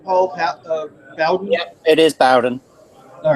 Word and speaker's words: Bowden: Yeah, it is Bowden.